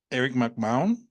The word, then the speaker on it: Erin Mcmahon: With me today, Erin Mcmahon.